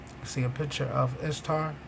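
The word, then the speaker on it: Ishtar: see a picture of istar pronounced easter the assyrian and babylonian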